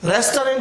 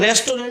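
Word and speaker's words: restaurant: दे blend तू आ रेस्टोरेंट इसका उच्चारण रेस्टोरेंट नहीं होता इसका उच्चारण होता रेस्टोरेंट तो यहां पर जो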